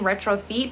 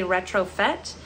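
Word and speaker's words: Retrofête: Now, I was pronouncing this brand incorrectly for a long time. I was saying retrofeet, but it's actually retrofit.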